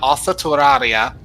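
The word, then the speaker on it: オーストラリア: They pronounce Australia Osatoraria. Oh, Australia.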